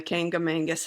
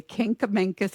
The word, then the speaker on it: Kancamagus: drive down the Kancamagus Highway. I'd have to Kancamagus. Did I say it right? Yeah. Okay, I got it. The Kancamagus Highway.